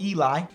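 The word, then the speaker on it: Elie: I've always said Eli. Nobody's ever corrected me, so I'm always just gonna say that. But now just looking at the way it's spelled makes me feel like I'm wrong.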